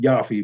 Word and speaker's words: Jaffe: It would have been pronounced Jaffe, but they anglicized the pronunciation.